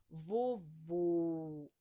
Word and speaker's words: vovô: O acento circunflexo deixa o som fechado da vogal, né? Ó, vovô, né? Já o agudo, ele dá uma pronúncia aberta, ó, vovó, né?